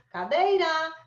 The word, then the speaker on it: cadeira: Cadeira, cadeira, cadeira. Cadeira, cadeira, cadeira. Então, a sílaba tônica tá aqui. Não é a última, é a penúltima, paroxítona, tá?